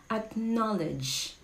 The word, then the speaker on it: acknowledge: Okay, how do you pronounce this word? It's acknowledge.